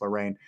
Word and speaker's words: Lorraine: Ed and Lorraine, I think her name is actually pronounced Lorraine.